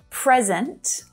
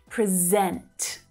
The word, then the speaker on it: present: So when you're using the verb form of this word, you really need to focus on syllable stress, right? Because it's also common to hear present with the stress on the first syllable. It can be a noun, or it can also be an adjective, present. But when you're using the verb form, you really need to shift that stress onto the second syllable, right?